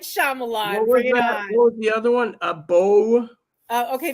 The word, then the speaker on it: Beau: the other one a bow uh okay the other one is Bo is you know how Bo is spelled b-e yeah I know b-e-a-u you're right Beau is afraid with